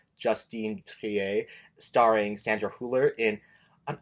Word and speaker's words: Justine Triet: Sorry, girly, almost got your name wrong. I was like, wait, there's an E, so it's Justine Triet. Justine Triet? I don't know how we say it in French, en français, but like Justine Triet, starring Sandra Hüller in an Oscar-worthy performance.